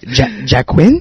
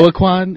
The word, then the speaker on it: Joaquin: Yeah, Everyone says Jaquin? Yeah, Joaquin, Joaquin. I just, man. Jamiroquai? Some people just go, can you just spell it? Can you spell it? You should just spell it like walking. Like that.